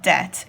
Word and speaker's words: debt: though it's got to be in it it's pronounced debt and debt is money you owe like if